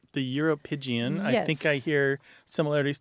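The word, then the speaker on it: uropygium: scientific term for it pleas it's called the europian the europian I think I hear similarities to calapan in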